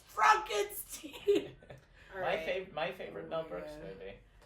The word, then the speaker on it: Frankenstein: That young Frankenstein. You said it wrong. It's Frankenstein.